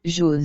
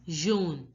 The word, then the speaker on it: jaune: Wherever you see AU together, it has to be pronounced as O. O. Jaune. So it becomes jaune, jaune.